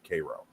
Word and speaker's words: Cairo: of the city of Koo um and it's spelled the same way as Cairo is in Egypt but it's not pronounced the same way and if you're from Illinois you pronounce it Cairo you're gonna get slapped